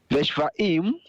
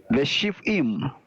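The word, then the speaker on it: ושבעים: Veshvaim. That's a chirik under the shin, so we have a closed syllable in the second position. The shiv. Veshivim.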